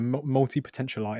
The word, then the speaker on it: multipotentialite: together yeah speaking is a was it a multi-potential light is that how you say it yeah yeah